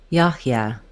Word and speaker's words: Yahya: The final letter A says a as in cat. A. Yeah. Yahya.